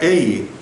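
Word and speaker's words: εἰ: Porque esto se expresa en el idioma griego la palabra ei, solo dos vocales, ei, pero se pronuncia ei, que quiere decir sí,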